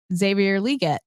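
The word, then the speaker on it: Xavier Legette: confident about that I feel confident in in Xavier liette I'm finally said it right thank God that's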